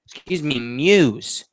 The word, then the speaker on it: Muse: And in step, Jonathan Muse is how it's pronounced.